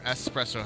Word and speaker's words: espresso: Espresso or espresso?